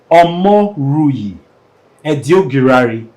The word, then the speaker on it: Omoruyi Edoigiawere: take it take it slow his name is omo rui Ed guari I'm sure I'm one of the first persons that I've gotten the pronunciation omori edary who's the lead partner of